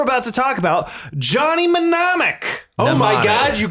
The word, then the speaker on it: mnemonic: Mnemonic.